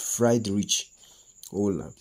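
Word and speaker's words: Wöhler: was debunked by the frederick ola sometimes it is pronounced fried rich hola for remembrance frederick ola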